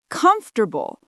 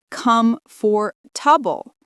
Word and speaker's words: comfortable: Example, written comfortable actually pronounced comfortable, not come for tubble.